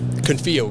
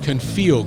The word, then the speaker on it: Confio: Confio Group. Confio Group.